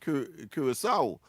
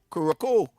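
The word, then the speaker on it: Curaçao: doing geography and as first time I saw the word um curissaw but I I used to pronounce Korokco but uh I don't know some some people seem to have un understood it until afterwards I realized of course that the C has an an an accent and and of course it is pronounced with a s a s song yeah nice boys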